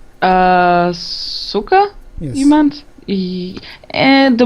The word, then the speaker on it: Suka: I always pronounce it Zika because I didn't know any better. Yeah, it's S-U-K-A practically saying so Suka. It's really simple.